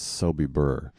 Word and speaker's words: Sobibor: the big nuremberg trial but spelled as soby burr the misspelling being closer to how it's pronounced it occurs where camp